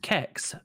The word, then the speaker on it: CeX: like cex which yes it's pronounced kex not sex as i thought it was for years you